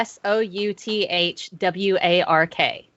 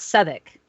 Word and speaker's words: Southwark: was staying but it's spelt southwark a r s-o-u-t-h-w-a-r-k but they pronounce it southwick why i don't know but my british friends